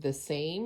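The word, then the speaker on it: The Saem: the Korean beauty brand called The Same. It's spelled S-A-E-M.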